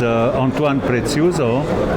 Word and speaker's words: Antoine Preziuso: And can you please introduce yourself so we know exact pronunciation of your name cuz some people get it wrong. Okay. My name is Antoan Preuzo.